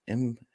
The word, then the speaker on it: Imbo: Imbo. I think it's Imbo. Yeah, I'm pretty sure it's Imbo. Yeah. That is the intended pronunciation, but I don't really care when people misspoke it.